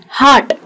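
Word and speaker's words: heart: Dark, हार्ट, हम लोग यहाँ पे कई लोग हार्ट को बहुत गलत प्रोनाउंस करते हैं, हम हार्ट कहते हैं जहाँ आर बहुत ज्यादा होता है, हार्ट भी कहते हैं कई लोग, अलग अलग जगह से होते हैं इसलिए प्रोनाउंसिएशन चेंज हो जाता है, लेकिन ये ध्यान रखना है कि इसको कहते हैं हार्ट।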